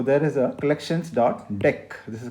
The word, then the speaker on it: deque: is a collections dot deck this is called deque it's not dq it is branch pronounced as deck now the funny thing